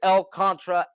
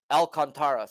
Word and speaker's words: Alcantara: let's keep it rolling Sandy L Contra at the Braves Alcantara sorry let's not disrespect the man and call his name wrong shout out to to